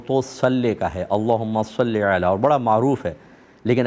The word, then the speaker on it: صلی علی: ہمارے ملک میں اللہم صلی علی لوگ کہتے ہیں، اور صلی علی ویسے یہ صحیح تلفظ ہے، اس طرح آپ پڑھیں تو زیادہ اچھا ہے، لیکن دوسرے سے بھی